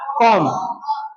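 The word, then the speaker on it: comb: दूसरी बात। दूसरी बात सी और एम बी एम के बाद क्या आया है? बी तो बी क्या रह जाएगा? साइलेंट रह जाएगा। तो इसका उत्तर हो जाएगा कॉम जैसे टी एच यू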